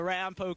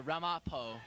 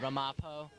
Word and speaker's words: Ramapo: looking as impressive as Rampo did against Old Tappan. I think it's pronounced Ramapo. That's what I heard. Ramapo, not Rampo.